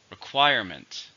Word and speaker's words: requirement: are in the requirement three stresses on the second requirement these laws are basic